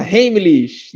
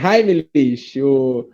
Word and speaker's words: Heimlich: Tem gente que fala Heimlich, né? Mas é Heimlich. A pronúncia aí um pouco mais comum, Heimlich, né? Que é um alemão que desenvolveu essa manobra.